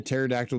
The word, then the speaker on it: pterodactyl: Why can't you hear a pterodactyl go into the bathroom? See, that's where being single helps. Oh my goodness. So let's see here, because the P is silent.